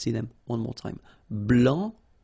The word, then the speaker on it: blanc: here, okay, so here, masculine, blanc, don't pronounce the final C, and then blanche.